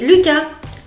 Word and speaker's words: Lucas: Ensuite Lucas quatre caractères le on allonge le U. Cass Lucas Lucas.